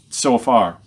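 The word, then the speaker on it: Zophar: then we read about zofar and oh that's spelled the Z in our Bibles it's kind of a TS in Hebrew so far so if you imagine a TS together so so far and it seems to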